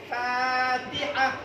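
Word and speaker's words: فاتحة: ফা উচ্চারণটা পাতলা হবে। ফাতিহা।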